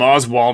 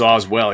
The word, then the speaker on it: Oswell: I called him Oswald in the first one. I don't know why, but it's Oswell.